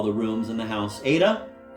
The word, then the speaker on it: Ada: Ada? She pronounced it the Russian way with 2 deep, dark A's, making it sound rather like ardor.